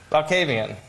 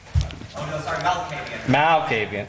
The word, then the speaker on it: Malkavian: Valkavian. Right? Valkavian. Did I say it right? Malkavian. There. Now that sounds familiar.